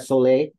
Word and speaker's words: Soleil: Is that Soleil? Am I saying that correctly?